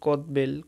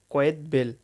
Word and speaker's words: কয়েদ বেল: একটা আছে কয়েদ বেল, আমরা বলি কদবেল, কদবেল, আসলে এই উচ্চারণটা হবে কয়েদ বেল, ক অন্তস্থ একাত্ত বয়কারে বে আল্ল, কয়েদ বেল।